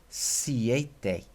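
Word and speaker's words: siete: a if this is seis then this is pronounced c8 day see eighth day because you've got an e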